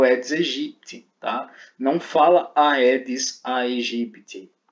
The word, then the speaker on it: Aedes aegypti: Então o A seguido de E, ele não tem uma sonoridade na palavra. Logo, é Aedes aegypti, ok? Não é Aedes aegypti, nem é Aedes aegypti. Não fala do jeito errado. Pronuncia-se Aedes aegypti, tá bom?